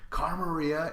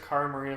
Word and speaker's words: Cara Maria: We've had everyone call Cara, Kara, Marie, Maria. Like, her name has just been like a cycle of mispronunciations.